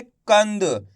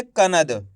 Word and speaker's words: कंद: ऐसे नहीं पढ़ेंगे कनद। अगर आप कनद पढ़ोगे तो ना का पूरा उच्चारण निकल जाएगा इस तरीके से, कनद। जबकि अपन यहाँ पे आधा ना का उच्चारण निकालेंगे, कैसे, कंद। एक बार फिर से देखिए,